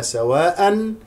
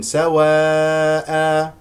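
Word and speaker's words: سَوَاءً: بكسر الحاء، ليسوا سواء، الوقوف على سواء بمد العوض بمقدار حركتين، سواء هكذا كما ترون أمامكم.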